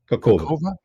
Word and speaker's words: Kakhovka: Given that Russia expected the, how do you pronounce that exactly, Scott? Kakhovka.